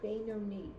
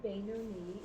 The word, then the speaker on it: Beinoni: Remember how to pronounce it. Beinoni. Beinoni. There you go. Okay, the status of Beinoni is attainable for all people.